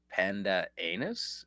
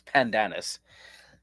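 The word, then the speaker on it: Pandanus: Greek letter says pandan anus. Sounds interesting. Tell me more. Well, no, it's it's pandanis.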